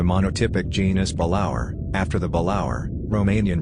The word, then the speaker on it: Balaur: species of the monotypic genus balaur after the balaur romanian pronunciation a dragon of romanian folklore the specific